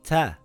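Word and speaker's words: تاء: The next letter is called Ta. It has two dots on top and it is a light letter. In English, it sounds like a letter T, like in the word taxi or the word tank.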